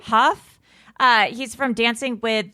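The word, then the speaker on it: Hough: pronounce his last name is it Derek Huff Derek Huff right Huff uh he's from Dancing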